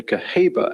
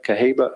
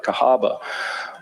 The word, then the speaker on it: Cahaba: Pisa Presbyterian Church in Caba Alabama am I pronouncing that right Cahaba kahaba okay thank you that's right so the